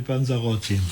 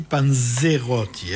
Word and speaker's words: panzerotti: Mais parce que tu avais mal prononcé. Moi, j'avais entendu Panzerotti. Non, arrête tes bêtises. Ah, Et les Panzerotti, c'est une spécialité italienne de la région des Pouilles. Donc, tu as bien dit Panzerotti, hein?